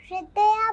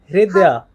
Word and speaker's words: हृदया: हृदया । हृदया। ह के अंदर र है।